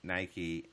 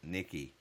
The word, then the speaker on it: Nike: and it was saying we call Nike Nikki wait Nike Nike you don't call your bike a bikie yeah I would see the